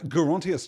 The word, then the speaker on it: Gerontius: geriatric right it is usually presented in English as having a soft G I'm assured that Gerontius took has a hard but I guess it could be gerontius right it's a whole